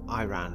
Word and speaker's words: Iran: in states much like the country of iran or iran as they say in the states battle it out with